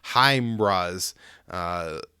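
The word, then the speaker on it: HIMARS: artillery rocket systems and i believe i've been pronouncing this wrong uh somebody in the military corrected me it's heimra's h-i-g-h and then m-a-r-s so heimras and then also 150 millimeter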